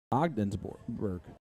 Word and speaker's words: Ogdensburg: Alan Aldridge watching from Odensburg, New York. Love it. Ogdensburg. Yeah. English. It's a soft G. G's don't matter.